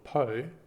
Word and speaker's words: Poe: download a dedicated app called po that's spelled p-o-e and then you can